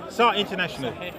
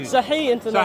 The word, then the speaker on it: Sahih International: How do you pronounce it? Saha International. Thank you. Sahih International. Sahih International.